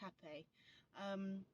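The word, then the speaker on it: Rapé: It's spelled R-A-P-E, but it's pronounced Hape.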